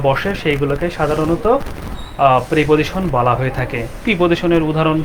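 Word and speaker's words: preposition: আচ্ছা এরপর আছে হচ্ছে প্রেপজিশন। এটার উচ্চারণ হবে আপনার আমরা অনেকে বলি যে হচ্ছে প্রি প্রিপজিশন। কিন্তু আসলে এটার উচ্চারণ প্রে অর্থাৎ এক কার আসবে।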